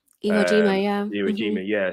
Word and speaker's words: Iwo Jima: With this photo, so this is it's raising of the flag on, I think it's pronounced Awajima. Iwo Jima, yeah.